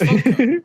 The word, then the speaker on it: Funko: And he was like, you're saying it wrong, Conan. It's Funko. It's Funko, not Funko. It's not a Funko. It's Funko. Funko Pop.